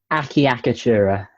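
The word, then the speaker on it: acciaccatura: draw um a chakatura some people pronounce this word akiyakitura which is better phonetically speaking because it you hear all the syllables but i pronounce it a chakatura because i think it sounds better um but miss morgan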